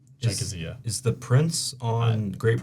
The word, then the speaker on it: Czechia: Oh, it's Czechia. Czechia. Is the Prince on Great Britain? I pronounce it.